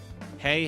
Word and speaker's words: HE: Also, the H wrist level is apparently pronounced like what the horses eat, the greeting. Hey.